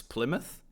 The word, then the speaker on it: Plymouth: It's Plymouth in English, like UK. I do want to learn the UK pronunciation for more things. Yeah. Plymouth.